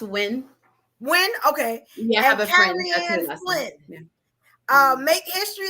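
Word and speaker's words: Nguyen: Uh Niguian. Hope I said that right. No, that's when. So that's pronounced win.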